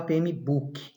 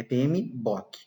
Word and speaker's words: PMBOK: Por que a gente não fala PMBOK? Porque não é book com 2 Os, não é um livro, tá? É PMBOK.